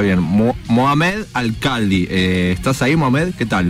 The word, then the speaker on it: Mohammed Alkhaldi: él se llama, a ver si lo estoy pronuncio bien, Mohamed Alcaldi.